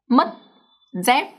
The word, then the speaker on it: mất dép: The reason is that when a Vietnamese word ends with the consonant T, C, or P, then the up tone is pronounced much shorter than the normal word.